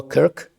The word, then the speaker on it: Кірк: Слідуюче, зараз ми бачимо, що відбулося в Сполучених Штатах Америки, коли Чарлі Кірк, Кирк, Кірк, правильна вимова, Кирк, один із ведучих молодих